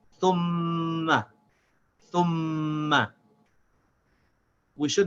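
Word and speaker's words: ثُمَّ: We should not say thuma, thuma. If I say thuma, then I did not connect the tha with the meme, thum. I didn't join the two as one syllable. I made it two syllables. I said thuma. This is also incorrect. I have to join the two, thum, and without stopping the sound of the meme, say ma. I should say thumma.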